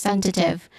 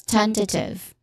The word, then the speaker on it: tentative: Pronunciation wise, we start with ten, which has a short S sound, and then t, which has a schwa sound, quick and stressed vowel sound, and then you end with tiv, which has a short E sound. So this is tentative. Again, tentative. The first syllable is the stressed syllable here, ten.